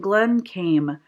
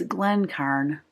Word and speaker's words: Glencairn: Oh, I was saying Glencame because the R and the M, seriously, if you can see that right there, the R and the N make it look like an M. So I was saying it wrong. If you look at the front, it's Glencairn glass.